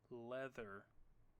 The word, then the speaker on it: leather: the first example leather first let's separate the sounds the first is a single consonant sound the next is a short vowel sound e the next is our new sound it looks like the diagraph th but it is a different sound the final sound is The R controlled sound let's try it again